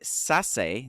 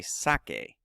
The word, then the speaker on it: saque: So to avoid sase, that says sase. I want it to say sake. I would say, spell it like that. Saque usted su papel y libro, por favor.